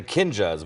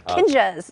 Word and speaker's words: Kinjaz: And the Kinjaz, we've been mispronouncing it. Yeah, Kinjaz, like Kinjaz, a ninja.